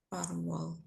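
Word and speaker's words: 팔월: Ya, 8월 dibacanya Karwol. Gak bisa ya, Bun. Karwol. Oke, sip. Karwol. Parwal.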